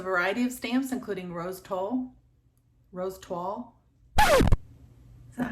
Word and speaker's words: toile: I chose a variety of stamps, including rose toile. Is that how you pronounce that?